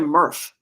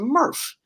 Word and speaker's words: MRF: They call it a MRF. You know what a Smurf is, right? That should be your trivia question, Don. So it rhymes with Smurf, but it's not a Smurf. It's a MRF, MRF, Okay.